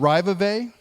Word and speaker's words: Raivavae: The island we went to is called Raivavae. At least that's how we've learned to pronounce it. It's pronounced seemingly many different ways.